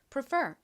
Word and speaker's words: prefer: R는 PR라고 발음되고 F은 F가 강세를 받아서 F 소리가 나고이 R은 소리 나죠. 그래서 prefer이라고 발음합니다. 뒷부분을 강조해서 발음해 주셔야 되죠. prefer 의미가 뭔가요?